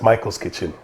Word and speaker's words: Maicol's Kitchen: questions about michael and where we got the m-a-i-c-o-l that's how my mother used to spell it and my my father spells it m-i-c-h-a-e-l but that's why it's michael's kitchen so get all those